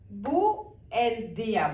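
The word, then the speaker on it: buen día: ഇനി ഇതിന്റെ പ്രൊനൗൺസിയേഷൻ നോക്കാം ഇത് ബി യു ഇ എൻ യു മലയാളത്തില് ഉ എന്നുള്ള ആ ഉച്ചാരണമാണ് ഇ എ ആണ് അപ്പൊ ബുൻ ദിയ ബുൻ ദിയ അങ്ങനെ ഉച്ചരിക്കാനായിട്ട് ബുൻ ബുൻ ദിയ എന്നല്ല ബുൻ ദിയ ഇനി എന്തുകൊണ്ടാണ് ഇവിടെ ബുൻ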